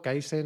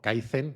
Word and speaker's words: kaizen: que tú has mencionado kaizen o kaizen porque se escribe con z Aunque es una palabra japonesa en mi web están